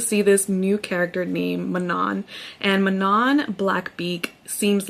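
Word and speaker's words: Manon: And I went into into my Spotify Audible to find out what the pronunciation of her name is. They say Manan. I was about to say Mannon, but thankfully I went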